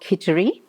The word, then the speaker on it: Kitchari: It's called Khitchari, and Khitchari is spelled Kitchari.